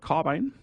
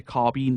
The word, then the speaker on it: carbine: They're armed with the Maynard carbine. I know Americans say carbine, but here we say carbine, and I mention it